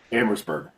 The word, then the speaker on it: Amherstburg: I know you've been an economic and policy analyst in and my apologies if I mispronounced this, but it's Amherstburg? Amherstburg.